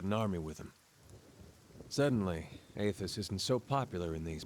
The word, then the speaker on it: Aethys: Seems really obvious that it's pronounced Aethys now.